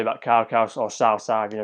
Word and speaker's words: Cao Cao: Cao, there's nothing more to say about Cao, or Cao Cao, you pronounce it.